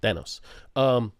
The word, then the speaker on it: Thanos: That's how you say it, Thanos.